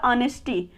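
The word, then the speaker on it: honesty: यहाँ पे देखिए एच को अंडरलाइन किया गया क्योंकि यहाँ पे एच साइलेंट है, इसको पढ़ा जाएगा ऑनेस्टी।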